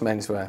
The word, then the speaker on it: Menswear: The band you were in, Menswear, I never quite knew how to pronounce it. Have I done it? It's just Menswear. You sure? I always go for Menswear, I don't know why.